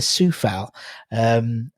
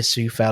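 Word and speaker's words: Coufal: Sometimes but because of it's Vladimir Sufal. Obviously it's spelled with a C, not an S. Vladimir Sufal, obviously currently 26 appearances now.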